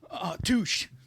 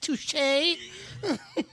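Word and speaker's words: touché: to make some content touch touch um it's pronounced touche oh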